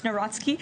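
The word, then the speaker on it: Nawrocki: He met with Carol Naraki, if I'm pronouncing that correctly. Yes, Naratski.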